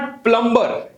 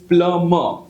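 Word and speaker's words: plumber: and water pipes right so इट इज नॉट प्लंबर इट इज प्लमर what is it called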